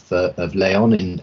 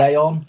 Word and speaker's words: León: But we're very grateful today to have Alexis Fernández with us today from the University of León. Am I pronouncing that right, Alexis? Yeah. León.